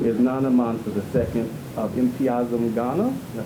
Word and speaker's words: Mpiazum: Cynthia Dillard, who is Nana Mansa II of Mpiazum, Ghana. Did I pronounce that? You did. Mpiazum, Ghana in West Africa.